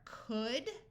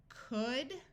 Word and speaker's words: could: uh these words are could should and would notice that in all three words the L's are silent could should and would let's